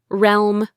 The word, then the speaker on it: realm: Realm. Realm. I can see why this one's hard. It's that lm sound at the end.